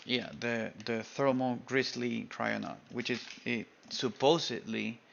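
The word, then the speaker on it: Kryonaut: a cry on out I think it's pronounced try or not let me see try or not yeah the thermal Grizzly crioner which is it supposedly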